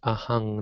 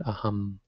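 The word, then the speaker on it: ahaṃ: The M with the dot under it is ang, actually, NG. So in the beginning there it's ahang, not aham.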